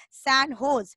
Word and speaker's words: San Jose: origin no recently the San Jose pronounce San hose State University of which